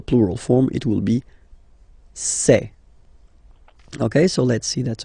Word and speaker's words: ces: Really open this c'est.